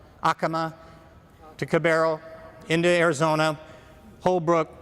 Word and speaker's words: Acoma: Past Acoma, they pronounce it Acoma over there, not Acoma. Acoma.